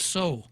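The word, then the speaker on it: Seau: Next is Sandra Seo, which I would pronounce, I think Frenchie and I would pronounce so. S-E-A-U, L-E-A-U, low, water, right?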